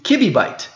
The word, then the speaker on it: kibibyte: The Commission stated that in English, the second syllable should be pronounced as BEE or B. Therefore, kilobyte is related to kibibyte.